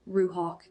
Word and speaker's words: ruach: Through that fractured audio, I learned the name of my guide, pronounced Ruhawk. In Hebrew, it would be spelled R U A C H and means spirit, breath, and wind.